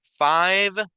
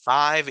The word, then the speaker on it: five: dos ejemplos clarísimos verdad Five Nine verdad son dos números que las e al final no se pronuncian solo se pronuncia la última consonante Five y Nine y el